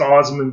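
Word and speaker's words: Assman: uncle dick uh and my last name is pronounced osmond but it's spelled ass man and my uncle was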